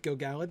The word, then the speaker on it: Gil-galad: I'm doing much better with Gil-galad.